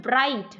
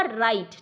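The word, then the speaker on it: write: उसके बाद है राइट, कई बच्चे इसको पढ़ते हैं ब्राइट, ब्राइट। W इसमें साइलेंट है, और ये है आपका राइट, ठीक है।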